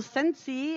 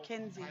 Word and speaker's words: Kinsey: We've got Cal Sensi as the jammer for Dolly Rogers and Pink Power Ranger for Dupage. Am I not saying it right? What am I saying? Kinsey. Kyle Pink Kinsey.